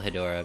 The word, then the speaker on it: Hedorah: good birthday music Hydra it's pronounced Hedorah or hetero god they